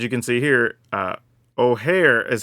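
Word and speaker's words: Ojer: this case as you can see here uh ohare is how we pronounce that just in case you were wondering because some people probably saying oer or something else it actually ohare so that's actually very neat just to have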